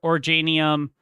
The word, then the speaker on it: Originium: I kept saying Originium or Originium, no, it's Originium.